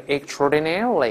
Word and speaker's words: extraordinarily: 的 extra，重音后移读成 extraordinarily。